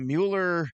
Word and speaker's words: Mueller: is Cade Mueller now both last names are spelled the same way it's just that uh uh Jake Miller or check that Jonah Miller pronounces his Miller and Cade Mueller pronounces his Mueller Cavs have two on